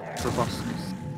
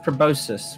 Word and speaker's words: proboscis: into you with a proboscis. Oh, stop it! I thought it was pronounced proboscis with like a soft C.